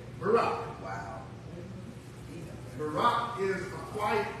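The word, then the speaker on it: Barak: Barack, like Obama. That's how it's spelled. B-A-R-A-K. Barack.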